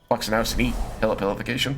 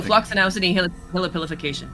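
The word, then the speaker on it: floccinaucinihilipilification: Floxenausen nihilipilification. There's an extra syllable in there. Floxinausini. Hillipilific- Oh, Floxinausini Hillipilification.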